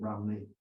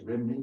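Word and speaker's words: Rhymney: of Welsh poets, and he sees Bells of Rumney. He says Rimney because they don't know how to pronounce it.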